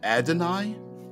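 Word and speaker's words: YHWH: much like that y h VH is usually pronounced as uh adoni Adon Adonai m is the name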